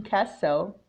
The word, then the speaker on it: castle: The T in castle is silent.